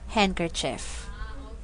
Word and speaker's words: handkerchief: sound of D because the letter D is silent in the following words we have here Wednesday handsome and handkerchief so guys your task